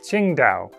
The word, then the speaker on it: Qingdao: and the city it was named after is pronounced something like Qingdao.